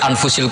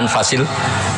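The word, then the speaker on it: أنفس: anut bacaan saya saja di sini ditulis anfusil kutub saya baca anfasil kutub karena maknanya kitab ter baik Kalau kitab terbaik bacanya bukan anfus tapi apa anfas ya nanti kamu debat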